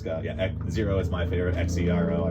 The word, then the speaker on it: Xero: It's got, Zero is my favorite.